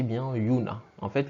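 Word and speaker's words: juna: vous prononcez bien et yuna en fait le ji ci se prononce comme dans yaourt le sont ils d'accord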